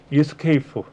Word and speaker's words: ESC: ESC 키 누르는 거 있죠? ESC 키. 원래는 이렇게 읽어요. Escape. 자, 우리 이제 키보드에서 ESC라고 있잖아요. ESC. 원래는 Escape라고 읽어요.